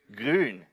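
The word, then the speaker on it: grün: Grun.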